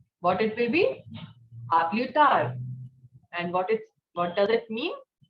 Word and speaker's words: à plus tard: Not à plus tard. D will not be pronounced. What it will be? À plus tard.